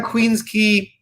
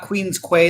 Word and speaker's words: Queens Quay: That's their brew pub, right on Queens Quay, not Queens Quay like most people pronounce it.